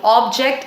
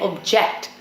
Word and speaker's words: object: There are a lot of other words, that we pronounce like this. For example, object and object. This is an object and I object to this.